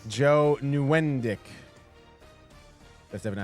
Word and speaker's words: Nieuwendyk: Joe Nieuwendyk. That's definitely how you At pronounce least it.